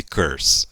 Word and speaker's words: curse: Agora, vamos dar uma olhadinha com mais detalhe nesse curse. Olha lá, o R, não é isso? Olha lá, curse. E esse Ezinho no final, que nós falamos, não é pronunciado. Então, não fale curse, fale curse, tá?